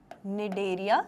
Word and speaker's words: Cnidaria: nirderia या silent area nideria सी silent है ना नीड एरिया में साइलेंट है ऑल राइट nideria एंड